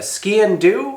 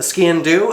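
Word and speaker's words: sgian-dubh: Now I have crafted multiple ceremonial knives before, particularly the ski and do, I believe it's pronounced. It's an odd name, SGIANDUBH or something like that.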